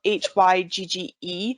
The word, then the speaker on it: hygge: they're living in awesome and the idea of hygge for our listeners it's spelled h-y-g-g-e but it's pronounced hygge and it is a